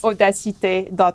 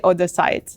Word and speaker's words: Odacité: our website which is Odessa take calm so people ask me how how do you pronounce or - it is like audacity oh that's it with